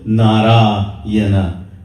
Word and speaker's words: Narayana: He called that 4-syllable Narayana.